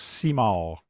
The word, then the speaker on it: Simard: Your name's kind of It's pronounced Simard. Simard. It's just spelled funny, but I guess it's spelled the French way.